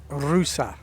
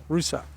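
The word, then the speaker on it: Ruse: This is Bulgaria, and this is Rusa. Not Rus, Rusa. 2 syllables.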